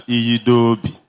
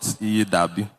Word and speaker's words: Iyidobi: Let me also correctly pronounce my name, Iyidobi. It is not Iyidabi.